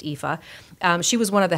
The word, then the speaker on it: Aoife: it spelled 8o i Fe and it is pronounced Eva she was one of the headliners at Irish